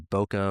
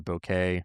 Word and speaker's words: bokeh: quality of that blur known as bokeh or bokeh, you know, tomato tomato. Uh the trolls will come out for that one has how it's pronounced, but it's B O Kh.